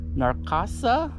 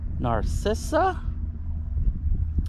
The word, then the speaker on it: Narcissa: the book our missionaries narcasa i'm pronouncing that really badly narcissa and marcus whitman traveled across